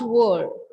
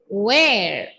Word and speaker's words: where: reading the word or pronouncing the word as word it's not word where where yes where so read this last